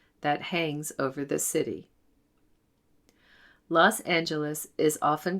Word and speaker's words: Los Angeles: The angels in Spanish is Los Ángeles, which is now pronounced Los Angeles in English.